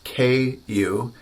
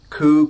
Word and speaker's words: ku: And so for us Americans, I think just thinking about the letter Q actually works really well. Or if you wanted to spell it out, K-I-U. And so say ku, ku, ku, ku, ku, the American way.